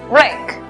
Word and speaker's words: wreck: La W es muda. Por lo tanto, la pronunciación es wreck.